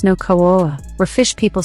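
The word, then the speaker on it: Nüwa: fushi and his wife n Gua or new Kua pronounced no KOA were fish people said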